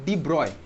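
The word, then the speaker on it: de Broglie: Simultaneously ওই সময় দাঁড়িয়ে আরেকজন scientist ডি ব্রগলি, scientist ডি ব্রগলি, pronunciation হচ্ছে তোর কী হয়, ডি ব্রয়, প্রোনাউন্সিয়েশন হচ্ছে তোর ডি ব্রয়, কিন্তু আমি তো ডি ব্রগলি বলবো, ডি ব্রগলি।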